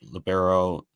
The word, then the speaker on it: libero: Yeah, it's pronounced libero. I think Oh, you have libero. Okay. yeah. So you technically are correct, because I've heard like I think the NCAA has tried to make it libero as like a official pronunciation, but most people call it libero. Just it's Italian for defensive specialist, so that's where that comes in.